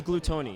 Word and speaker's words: Glutonny: now coming up, we have MkLeo versus Glutonny. Now, feel free to correct me how I say Glutonny because I literally cannot say it. Gluto. Thank you. He's cool with Gluto. Thank you. Yeah, it is Glutonny.